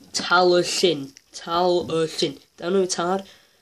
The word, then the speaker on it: Talyllyn: You're meant to be saying talyllyn. Talyllyn. Don't know tar. It's tal with a Y. The Y is a sound. Tal and the is like Donald Duck.